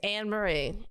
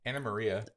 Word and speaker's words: Anne-Marie: maria i mean adding more syllables to the name it's literally just two very simple names with a little hyphen in this it's not hard it's like and hyphen marie like spider hyphen man everyone did spider-man right